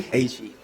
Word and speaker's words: He: He.